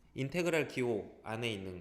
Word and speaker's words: 인테그랄: 자, 인테그랄 dx. 요 앞에 거 읽을 때 인테그랄이라고 읽어요.